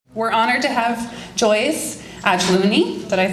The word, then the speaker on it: Ajlouny: we're honored to have Joyce Ajlouny.